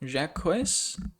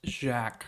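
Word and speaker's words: Jacques: as I do now it's pronounced Jack not jacquis I am embarrassed Jack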